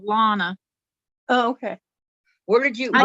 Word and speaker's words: Lonna: your name one owner just like just like donna just like donna but with an l lana okay where did you